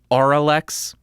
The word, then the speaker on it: Auralex: Because I said oral exciter, and apparently that's not how you say it. It's oral exciter, because oral exciter sounds like something way better than oral exciter. It's Auralex.